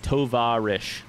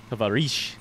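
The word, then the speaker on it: товарищ: Tovarish. Am I putting the emphasis on the right syllable? We should just do this part while it's here. On the va.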